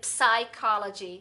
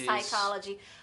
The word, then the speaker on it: psychology: Então, tem muitas silent letters, então letras que a gente não pronuncia. É. Então, acho que vários erros que eu fazia era dizer psychology, ao invés de psychology.